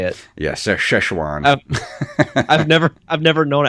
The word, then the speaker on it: Szechuan: oh so that's how you say it yes sir chuan I've never I've never known as I know